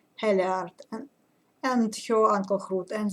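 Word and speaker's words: Hallgerd: The only thing I regret in this saga is that we don't know what happened to Helgard, or Heliard. I think the right pronunciation is Heliard, and her uncle Hrut, and they were very prominent figures, very important characters, in this saga.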